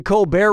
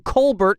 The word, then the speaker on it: Colbert: Okay, so Steven Colbear of the Col Bear Report changed the pronunciation of his name from Colbert to Colbear and that's how he became rich and famous.